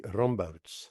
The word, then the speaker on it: Rambouts: It's so easy. Roomot. That's what I said. Roomots. Yeah, I said it right. Right. No. Anyway, thanks for the invitation. Very Dutch. It's not Dutch.